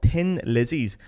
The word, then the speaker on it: Thin Lizzy: you have a restaurant called tin lizes which is obviously meant to be Thin Lizzy but ironically that's how Dublin people pronounce Thin Lizzy and it's where Thin Lizzy are from well it's where F